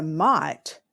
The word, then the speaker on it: might: The I sound is represented just by the letter I, like in child. And then it has a silent G and H. That's because the G and H used to be pronounced.